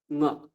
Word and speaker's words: ঙ: এই যে ম, এটা বলবেন না, কি বলবেন? ঙ।